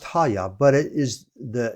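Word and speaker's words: הָיָה: Uh pronounced haya. So it's pronounced haya.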